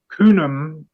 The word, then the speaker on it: Khnum: So yeah, so the Capricorn was called Kunum in Egyptian, which is spelled Khnum, and it says Kunum is one of the oldest gods of the ancient Egyptian pantheon.